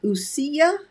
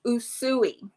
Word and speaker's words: Usui: The name of the Reiki is Usuya. It's Usui. Usui. Okay. Tell Usui. Us. Okay. Well, I am a Usui Reiki master.